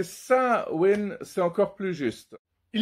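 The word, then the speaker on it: Samhain: Ouais, il y a toute cette histoire avec ceux que certains prononcent, d'autres disent samaï, mais la vraie prononciation c'est sain.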